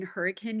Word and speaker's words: Hurricane: to the farm in Hurricane Utah or Hurricane Utah if your local is Southern Utah we say hurricane but if you're not from here it's spelled hurricane it was really really